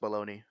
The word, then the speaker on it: bologna: up bologna you know like that's that's what's happening i think it's pronounced baloney yeah and they really